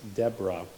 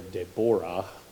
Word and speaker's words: Deborah: Her name is Deborah. If you want to be really Hebrew about it, you could call her Deborah, but I think we'll stick with the English pronunciation for the purposes of this lesson.